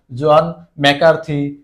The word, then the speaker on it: জন ম্যাকার্থি: একটু কনফিউশন লাগতে পারে আমি তার জন্য এর বাংলা উচ্চারণটা তোমাদের একটু দিয়ে দিই তাহলে তোমাদের পড়তে সুবিধা হবে জন ম্যাকার্থি তাহলে আমাদের উত্তর কি